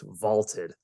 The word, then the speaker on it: VLTED: and story predictions now that's v-l-t-e-d pronounced vaulted check them out interesting